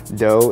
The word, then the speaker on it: Do: Dough is spelled D-O as in do, re, mi, fa, so.